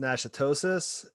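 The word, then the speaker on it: Natchitoches: uh county is pronounced nashitosis which is uh obviously french like most louisiana i might be butchering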